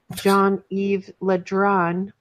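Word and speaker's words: Le Drian: minister jean-yves after now to pronounce this john eve Letran meanwhile condemned the US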